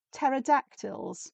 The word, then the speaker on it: pterodactyl: I said, "Yep, silent P at the beginning, pterodactyl."